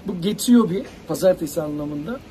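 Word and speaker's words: 月曜日: Nasıl okunur? Bu Getsuyobi. Pazartesi anlamında. Getsuyobi.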